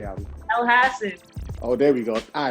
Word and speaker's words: Elhassen: say it albe how do you say abby el hassan oh there we go i appreciate you correcting